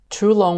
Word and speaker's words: Tulong: Tulong was also known as Earth Dragon, which implies that it should be pronounced as Tulong.